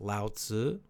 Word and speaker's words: Lao Tzu: Again, I cannot pronounce the Chinese correctly, but yes, Lao Tzu, L-A, in English letters, in Latin letters, L-A-O, and then next is T-Z-U, usually, it's how it's pronounced, Lao Tzu.